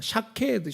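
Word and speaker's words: שקד: 있는 말씀입니다.이 살구나무라는이 단어가 히브리 원어를 보니까 샤케에헤드입니다. 샤드인데이 샤헤드라는 그 원어가이 발음이 비슷한데 같은 단어입니다. 쇼카드라는 단어 샤케드 쇼카드 같은 말인데 살구나무는 샤케드입니다.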